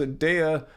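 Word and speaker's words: Daiya: fan Don I've tried the new daya actually pronounced a daya New York cheesecake I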